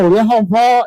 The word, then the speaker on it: Yehovah: The God of the Bible, Yehovah, is his name. That's how you say his name.